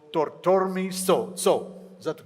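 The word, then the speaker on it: Thorthormi Tsho: Bhutan's largest glacial lake is called Tortormi So. Is that the correct pronunciation?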